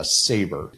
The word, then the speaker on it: SABR: Now, in addition to those, Simpson has also come out with what they're calling a SABR. Is how I'm going to pronounce it. I'm going to pronounce it SABR, SABR.